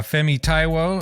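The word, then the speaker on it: Fẹ́mi Táíwò: uh we've got a special guest today uh femi taiwo am I pronouncing that correctly yep um who is an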